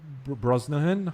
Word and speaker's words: Brosnahan: With David Corenswet, Rachel Brosnahan.